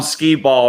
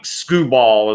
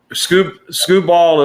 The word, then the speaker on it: Skubal: I know that's not how you pronounce it, but that's what I'm calling him. Tariq Skubal is actually, I'm calling him skee ball for those of the old boardwalk pavilion games, you know, roll the ball.